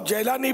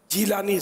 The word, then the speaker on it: جیلانی: جیلانی کہا جاتا ہے۔ بعض لوگ جیلانی بھی بولتے ہیں، لیکن معلومات کی لغت کے ذریعے معلومات کروائی تو پتہ چلا کہ وہ درست تلفظ جیلانی زیر کے ساتھ ہے، جیلانی نہیں ہے۔ جیلان ایک دوسری قوم